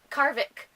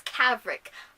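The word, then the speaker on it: Cavric: a previous revolutionary soldier kaarvok oh my god in his name wrong in my favorite character and I can't even say his name Cabret it's kavik I'm bad at this that's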